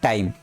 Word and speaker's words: thyme: यही होता है THYME, H वर्ड साइलेंट होते हैं, इसको पढ़ते हैं टाइम।